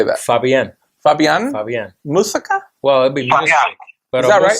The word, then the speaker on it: Muzik: It's Muzik, but it's pronounced music.